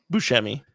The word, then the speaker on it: Buscemi: Buscemi. It's one of those ones I've never known how to pronounce, kind of like Worcestershire.